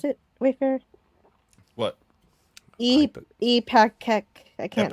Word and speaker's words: Ipecac: Epakek I can't Ipecac.